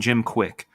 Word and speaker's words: Kwik: There's this guy named Jim Quick, and it's spelled KWIK.